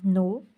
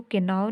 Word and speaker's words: know: हम इसको किनी नहीं बोलते और इसको केनाव नहीं बोलते, ये नाव और ये नी होता है। तो इसमें के क्या हो रहा है, साइलेंट हो रहा है, ठीक है।